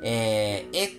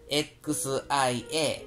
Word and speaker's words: 謝: ただ、これ、音韻するときは、XIE でなくて、XIA、シア、という風に